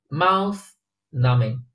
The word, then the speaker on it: mouth-numbing: 这个短语能看懂吧？mouth-numbing，这个 b 没有发音啊，没有